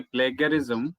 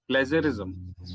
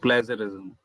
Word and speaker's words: plagiarism: of what you say plagiarism. It is plagiarism. The G in plagiarism is pronounced as ja, not ga. Okay, So sir. plagiarism. It is called plagiarism.